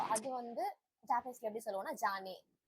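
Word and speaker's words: じゃね: ஷீ லெட்டருக்கு மேல அந்த 2 stroke போட்டோம்னா அதை வந்து ஜீனு ப்ரொனவுன்ஸ் பண்ணணும் நான் சொல்லியிருக்கேன்னா. அது கூட இந்த யா லெட்டர் வந்து குட்டியா இருந்ததுன்னா அது ரெண்டுத்தையும் சேர்த்து ஜி பிளஸ் ஆ ஜான் மாறிடும். இப்ப தமிழ்ல வந்து இக்கு பிளஸ்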